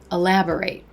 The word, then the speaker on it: elaborate: detail is to elaborate elaborate so the difference is very subtle but the way you pronounce the word ending actually changes the meaning of the word so let's try some